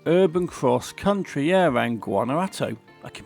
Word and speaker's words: Guanajuato: Finally, Urban Cross Country, yeah, around Guanajuato. I can pronounce it, you know. Guanajuato.